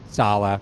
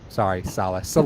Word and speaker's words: Saleh: Saleh. Saleh. That's how we pronounce it. That's don't try and church it up. We know your name's Saleh.